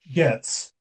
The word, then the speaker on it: Goetz: Did I pronounce it right? Gets. Thank you. It's the Goetz.